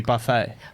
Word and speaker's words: buffet: And I explained that buffet is from the French, and when you have a French word that ends in a consonant, unless it's directly followed by a vowel, you do not pronounce the last But consonant.